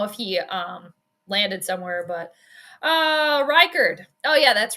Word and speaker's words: Reichard: It's a silent H, like in French. Maybe it is French then. Because in France, you don't pronounce H's either.